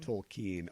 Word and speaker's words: Tolkien: over-under point where yeah people finally learn how to say my name toll keen although I did think